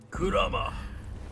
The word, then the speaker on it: Kurama: Kurama, that's how you say it.